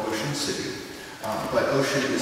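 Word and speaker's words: Ossian: of background it's called bu City uh but ocean is spelled o s s i a n uh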